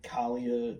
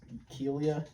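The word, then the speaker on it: Kealia: Now JJ Watt's fiance, I'm not gonna pronounce her fucking name right. What is it? It's like Kalia Ohai. It's Kelia.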